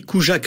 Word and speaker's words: Kurzak: la voix de d'Alexandra on dit coujac en en polonais mais c'est pas grave vous prononcez pas le r alors voilà c'est CJAC voilà et donc le fait